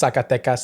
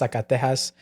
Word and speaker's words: Zacatecas: I did a video last week about Thomas Edison being from Zacatecas, but I pronounced Zacatecas, Zacatejas.